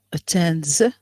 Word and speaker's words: attends: pronounce the S no attends attends what's the sound pronounced in the end I guess z z sound because you have the which is a voice sound automatically what is after is a voiced sound which is z yes please next student